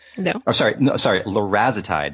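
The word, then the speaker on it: larazotide: I'm sorry no sorry larezo tide that's the right pronunciation larezo type and what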